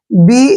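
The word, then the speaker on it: bay: अब देखिए इजी होगा बी ए वाई बी को क्या पढ़ते हैं हम ब ठीक है ए वाई का उच्चारण क्या करेंगे ए ठीक है ना बाय नहीं पढ़ना है बे ठीक है ना बे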